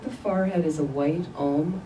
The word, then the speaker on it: om: at her forehead throat and heart three other syllables so at the forehead is a white ohm o m at the throat a red a